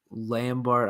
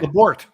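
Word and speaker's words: Labourt: You also got, I believe, another left-handed pitcher, Jario Lambert, I think it was how you pronounced it, for David Price. So I don't think those trades weren't necessarily bad. Jairo Lambert. Okay. Labort.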